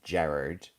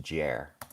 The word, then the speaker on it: Gerard: Gerard, and it's generally shortened to Jer. A little bit difficult for some people to pronounce. Gerard or Jer. Kind of a bit like Jar or Jer. Yeah, Jared. It's a German name originally. would be what it is, but there's lots of different versions.